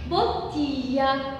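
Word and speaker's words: bottiglia: تمام، وبنطقها كده جي ال اي فبتتنطق لي، لي ما بقولش لي بس بقول لي، لي زي فاميليا، فاميليا العيلة، فاميليا. تمام، وكمان بوتيا، لي بوتيا. هتقولي طب احنا هنعرفها ازاي دي بقى؟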